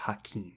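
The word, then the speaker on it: Hakim: he plays a character hakeim so he does not play himself those rhyme with Kareem so they didn't un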